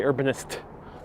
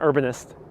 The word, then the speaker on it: Urbanist: You gotta really pronounce those T's on Urbanist. You gotta say Urbanist. Not Urbanist. Urbanist.